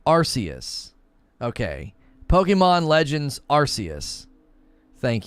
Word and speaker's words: Arceus: the games we like arceus emphasis on r arceus okay pokemon legends arceus